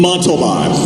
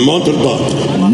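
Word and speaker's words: Montalbán: First of all, you're not pronouncing his name correctly. Okay? So I want you to say after me, Ricardo Montalban. Montalban. No, Montalban. Montalban. There you go.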